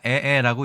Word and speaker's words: 靄靄: 이 글자는 우리가 에에라고 읽습니다.